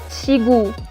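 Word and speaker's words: 지구: sounds ch for example look at this word guys chigu we have a Chhieut in the beginning has combined to i so it is pronounced chi and then i have Khiyeok which is combined to u ku or gu because it is in the middle I say gu chigu with means earth if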